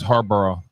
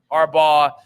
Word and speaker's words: Harbaugh: always thought it was Harborough. Everybody says that. Mhm. My dad has always said that too. It took me forever, but then it was like, okay, Harbaugh, like you're not really pronouncing the last part of it.